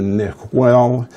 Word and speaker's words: Niguel: wheel and wheel is the village that the Spanish corrupted into Nick well Nick well it's their pronunciation of what we corrupt into Niguel so there were some